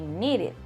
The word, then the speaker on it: needed: She needed.